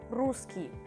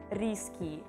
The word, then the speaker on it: русский: One more is русский. Promise I will never hear from you risky, even though yes, of course, I would agree that Russian is sort of risky, but no, please pronounce it correctly, alright?